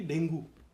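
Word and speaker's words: dengue: तो मुझसे बोला गया कि डेंगू, तो उस बच्चे ने मुझे कहा, कि सर ये डेंगू नहीं होता, डेंगी होता है।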